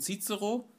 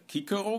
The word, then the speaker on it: Cicero: aus einer bemerkung von cicero oder kicker besser gesagt je die antike aussprache beachten müssen von quito dass er